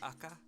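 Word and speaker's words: 赤: that k a sound which is ka so aka not too much going on there it's kind of just straightforward akka it's just two syllables akka as opposed to just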